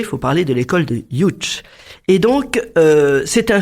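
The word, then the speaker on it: Łódź: D'ailleurs, ils se sont connus quand ils sont allés dans l'école de Lots. On alors je vous rappelle que on dit enfin ça s'écrit Lots L O DZ mais ça se prononce Youch.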